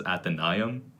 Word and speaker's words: Athenaeum: In Latin, Diphthongo, the AE diphthongo. is pronounced I. So I've always read it as Athenaeum.